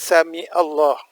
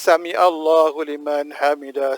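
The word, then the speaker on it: سمع الله لمن حمده: ketika itu kita baca samiallahulimanhamidah Hamidah mati kita dah diluruskan kita bangkit samiallahulimanhamidah nah Hai perhatikan bacaan ini bacaannya adalah SMEA bukan suami Allah bukan semi Allah kalau kita perhatikan sebenarnya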